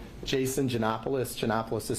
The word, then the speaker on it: Janopoulos: It's Jason Janopoulos. Janopoulos is spelled Janop as in Paul, Oulos.